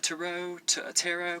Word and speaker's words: tarot: yourself, the tarot, T-A-R-O-T, tarot, people pronounce it differently, but I say tarot, and so does, Justine, aka KickingGeese, so that's why I feel like, it is appropriately said, tarot.